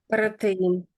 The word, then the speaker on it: protein: So, that you're you're trilling the R slightly occasionally. So, we don't really do that. So, try be careful on that if you can.